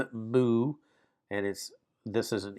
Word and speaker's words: mu: It's even though it's spelled mu, it's like MOO, mu, and this is an M sound.